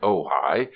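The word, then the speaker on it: Ojai: name of their home you are to pronounce it ohigh is Indian for nest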